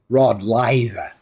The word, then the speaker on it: Rod Laver: And to pronounce his name correctly in Australian, you would say Rod Laver.